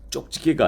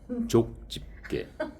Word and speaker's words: 족집게: 쪽집게가 아니고 족집게. 쪽이 아니고 이 쪽은 이제 경상도 발음으로 좀 세게 한 거고 그 표준어는 족입니다.